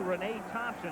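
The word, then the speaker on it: Reyna Thompson: And then the defensive backfield with the rookie Renee Thompson and that is the way it's pronounced.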